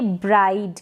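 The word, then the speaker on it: bride: तो यहाँ पर जैसे पहले स्पेलिंग दे रखी है ब्राइड, क्या है? ब्राइड। बी आर को तो आप ब्र पढ़ देंगे, लेकिन आई डी ई इसको पढ़ रहे हैं आइड, ठीक है?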